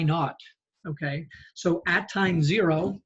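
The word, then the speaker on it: naught: just call that y not okay so at Time Zero in physics we call that y y not or Y zero you pronounce out y n a u GT not meaning nothing okay um so Y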